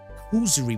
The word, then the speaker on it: causerie: I wish to have a proper causerie with the Count and the Cleric.